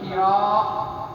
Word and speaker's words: Hira: The most authentic one is that, is going to pronounce with ha kasra, Hira, not Hira, and fatha on the wrong, and alif, big alif, muttasil, big mat alif, Hira.